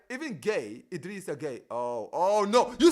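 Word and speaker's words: Gueye: Even gay, Idrissa gay.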